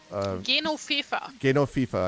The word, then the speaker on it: Genofefa: come up with a good pronunciation guide. It's like a gynophoenix.